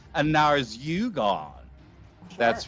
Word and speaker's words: Narzugon: Here, we have got, let me pronounce this correctly, a Narzugon.